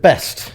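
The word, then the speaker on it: Baest: And then they pronounced it best.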